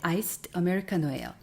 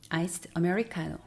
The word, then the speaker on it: iced Americano: 지금까지 눈치채셨겠지만 아이스 아메리카노는 아이스 아메리카노가 아니라 사실 아이스드 아메리카노예요. 주문을 할 때 아이스 아메리카노 달라고 하면 못 알아듣는 사람은 없지만 이것이 정확한 발음입니다. 아이스드 아메리카노.